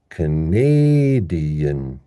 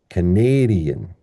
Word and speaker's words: Canadian: So this word becomes Canadian, Canadian, Canadian. In contrast to this one, which was Canada. So we have Canada and Canadian.